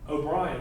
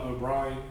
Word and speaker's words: O'Brien: It's spelled O'Brien, O-B-R-I-A-N. That's better than its initial spelling of O-B-R-I-N-E. O'Brien, like briny water, O'Brien.